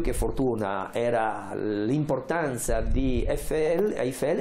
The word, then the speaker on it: Eiffel: La cosa altrettanto curiosa è invece da sottolineare come Eiffel, ecco, mi viene da pronunciarlo la francese perché i francesi la pronunciano senza la I, Eiffel.